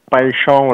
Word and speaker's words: Paixão: Donc Paixão là, comme une bonne prononciation brésilienne, si Paixão là, donc ça se fait pas.